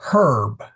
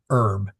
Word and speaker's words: herb: You do not swallow your H's. So, it's history, not history, or herb, not herb.